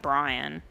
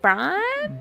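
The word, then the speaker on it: briam: to pronounce it cuz the way I say it just feels like I'm saying Brian. Um it's Bri. Brian. Brian. Brian. It's B R I A M.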